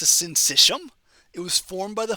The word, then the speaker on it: syncytium: Kind of weird pronunciation there, S-Y-N-C-Y-T-I-U-M, syncytium.